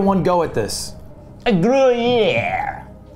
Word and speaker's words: Gruyère: A Gruyère. Gruyère. All right. Well, no, you don't really pronounce the R. The Gruyère. You don't just skip it. You would just you go Gruyère.